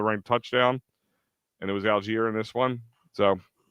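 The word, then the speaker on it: Allgeier: I mean Bejan, was it Algar? Algar, however you say his name. Algier. Alier. Alier.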